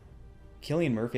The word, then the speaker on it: Cillian Murphy: And then also, when it came to the Scarecrow of the movie, so Cillian Murphy, I think is how you pronounce his name, he originally auditioned to play Batman, didn't get the part, and was cast as Scarecrow.